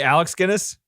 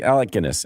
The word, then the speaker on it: Alec Guinness: look at that bridge you say Alex Guinness isn't Alec Alec Guinness Alec there you go sorry I'm sorry